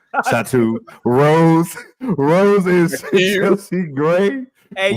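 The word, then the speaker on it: Satou: Phantom is Sato. That's how you say it. Satu.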